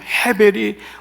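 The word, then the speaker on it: הבל: 해변이라 그랬잖아요 헛되고 헛되면 헤벨이 무려 37번이나 계속 반복되는이 전도서의 말씀 근데이 해벨이 바로 아벨과 똑같은 단어예요 헤벨 하벨로도 발음 되거든요 우리나라는 히읗 자나 피자가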